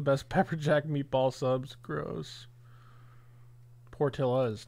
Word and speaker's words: Portillo's: now I don't know is it Portillo's or party owes boat okay Portillo would implicate Mexican origins right as where Portillo's would be Italian like said it right